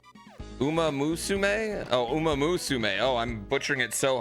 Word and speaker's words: Umamusume: Umasume? Am I saying it that wrong? I'm skipping a syllable? Umamusume? Oh, Umamusume.